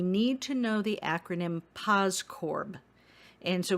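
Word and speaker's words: POSDCORB: to know the acronym pos corb and so we usually pronounce it without the d in there we usually say paz corb but the d is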